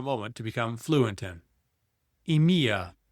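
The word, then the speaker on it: EMEA: Emia pronounced EMIA for Europe, Middle East, and Africa.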